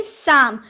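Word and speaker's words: psalm: अब देखिए एस के पहले पी आया है ना। एस के पूर्व पहले पी आया तो पी का उच्चारण नहीं करेंगे। हम बोलेंगे साम।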